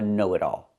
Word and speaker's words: know-it-all: That person is called a know-it-all, not a smart alec. He's a knowit-all. Pronunciation knowit all. The t changes to a fast d because it's between vowels.